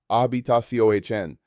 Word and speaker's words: habitación: Room is habitación, pronounced habitación. This is a longer word that requires practice. Break it down into syllables. Habitación. The stress falls on the final syllable, indicated by the accent mark.